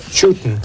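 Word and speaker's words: Chewton: Chutin. Just out the steps. Still with us, Frank. How do you spell that?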